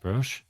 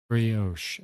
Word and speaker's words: brioche: I always forget how to pronounce this word. Brosh? Mass liver of pie. He's a gloomy boy. It was the first design for my character mascot. Oh. Brioche.